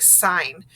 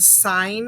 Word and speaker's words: sign: didn't know the word sign and you were trying to figure it out you would want to know that g is silent because you're not getting